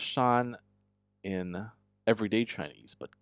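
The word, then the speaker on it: 山: So it's pronounced shan in everyday Chinese but g this is g here in the uh tauist esoteric language.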